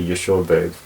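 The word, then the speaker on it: יְשׁוֹבֵב: This actually is B, but in some cases, usually after a vowel, it's pronounced as a V. That's why we say Yeshovev.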